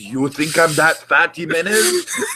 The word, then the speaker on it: Jimenez: It's an H. Jimenez. No, it's spelled X, but it's pronounced H.